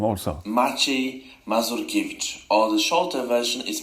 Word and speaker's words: Maciej Mazurkiewicz: Maciej Mazurkiewicz, or the shorter version is Maciek, so it's Maciek Mazurkiewicz.